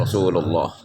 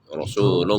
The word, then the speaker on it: Rasulullah: Jika didahului oleh fathah atau dhammah maka dibacanya tebal.